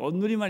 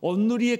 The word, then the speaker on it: 온누리: 온누리만 있는 게 아니고요. 온누리는 발음 잘해야 돼요. 온누리냐 온누리냐 여기 달라요.